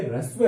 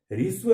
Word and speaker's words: ह्रस्व: दूं विद्यार्थियों कि ये ह्रस्व है, ये ह्रस्व है, ऋस्व नहीं है। इसमें है और उसके नीचे र, इसका मतलब है आधा है और र पूरा है, तो है की ध्वनि आधी निकलेगी इसके उच्चारण में और र की ध्वनि पूरी निकलेगी।